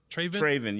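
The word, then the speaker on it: Trevin: Is I'm pronouncing that right? Trayvon, T-R-E. I think it's Traven. Traven, yes.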